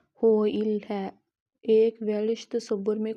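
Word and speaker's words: hwyl: ہے جس کا مرکز حائل تلفظ ہوئل ہے۔ ایک ویلش تصور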